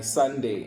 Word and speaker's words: Sondae: But the song is called "Stand Up" by Sunday, and Sunday spelled like Sondae.